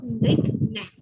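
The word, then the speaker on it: Mrignayani: Mirghnai. Pronunciation is Mirghnai.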